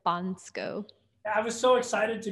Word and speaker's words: Bansko: I say Bansko, but it's like Bansko.